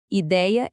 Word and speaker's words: ideia: Só em palavras paroxítonas, ideia e heróico são os exemplos perfeitos disso. A gente continua falando com som aberto, mas o acento no papel sumiu. E olha, a lista de